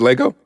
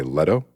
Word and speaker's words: Leto: I what is it is it Jared Lego yes it is Lego and he is made of bricks they say Leto Leto yeah I've never heard